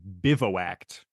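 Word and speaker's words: bivouacked: day is your word of the day is bivo act Biv is what is that bivo act it's spelled b i v o u a c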